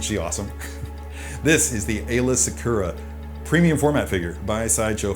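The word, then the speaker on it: Aayla Secura: nine years ago uh ayla sakura some people pronounce her eyelash accura but they're wrong is a twilight or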